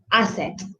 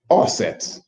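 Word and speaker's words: Aset: the wife's name is asset aka isis by the greeks right so his wife's name is asset and and she was a very good asset to him assets i believe is the right pronunciation also known as isis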